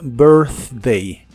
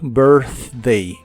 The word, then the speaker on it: birthday: retraída hacia atrás y la th es la th suave que hace soplando entre la punta de tu lengua y los dientes superiores y suena solo como aire your birthday your birthday y usaremos la palabra